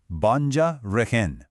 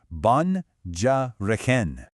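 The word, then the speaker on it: բանջարեղեն: It's banjareken, pronounced banjareken. Let's try that one more time, kind of slow. Banjareken.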